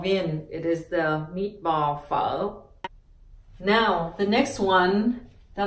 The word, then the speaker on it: phở: balls follow ball VIN it is the meatball foe now the next one that I want to